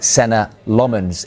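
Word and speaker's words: Senne Lammens: of the window, but United opted to sign Senna Lomans instead.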